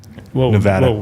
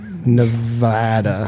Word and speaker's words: Nevada: Nevada. Please say it right. Nevada.